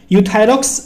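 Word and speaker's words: Euthyrox: नाम क्या है यूथस यहां पे गा ई साइलेंट है सिर्फ यू पढ़ते हैं हम यूथायरॉक्स 100 के नाम से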